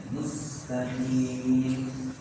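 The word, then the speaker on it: مستقيم: Kemudian kesalahan berikutnya adalah merubah sin menjadi shad. Ini ihdinas siratal mustaqim. Yang benar mustaqim.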